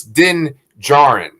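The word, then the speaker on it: Din Djarin: he said something and i realized i've been saying the mandalorian's name wrong this whole time so it's din jaren what isn't it oh yeah there's not a j in the beginning is there oh so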